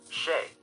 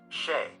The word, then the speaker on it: Che: Che is wrong. Che, with the CH, pronounces like Chase, is right.